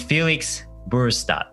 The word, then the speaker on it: Felix Burestedt: His name is Felix Burestedt. I think I pronounced that okay.